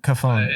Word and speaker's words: Cofone: Did I pronounce that correctly? Cofone. Cofone. Yeah, I should have said that. I should have asked. I meant to, and I totally spaced. All right. You got the like actual Italian pronunciation right. So here in the U.S., it's just Cofone.